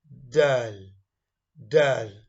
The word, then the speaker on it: د: gun behind the front upper central two teth d d you try it you get it right but